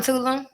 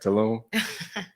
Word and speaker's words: Tulum: Fucking It's on Tulum. Saloon. Tulum. I pronounced it wrong. Nah, that's where you be at, Tulum.